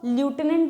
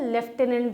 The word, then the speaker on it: Lieutenant: देखो, इसको ल्यूटेनेंट भी कहते हैं, इसको लेफ्टिनेंट भी कहते हैं, ठीक है। इसका प्रोनाउंसिएशन दोनों होता है, ल्यूटेनेंट एंड लेफ्टिनेंट।